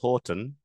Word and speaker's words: Houghton: My family says Houghton, as in like the coffee chain, the Tim Hortons, but I've heard every possible variation on it.